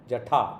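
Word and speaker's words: jaḍa: Jada or Jatha. Jatha, that is the way that is the right way of of uh of of pronouncing it.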